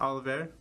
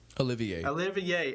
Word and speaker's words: Olivier: I think that's how you're saying it, Oliver. Olivier.